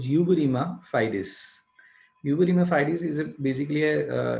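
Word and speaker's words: uberrima fides: के बाद I have got द utmost good pronunciation of this particular word. It is called uberrima. It's called uberrima fidis.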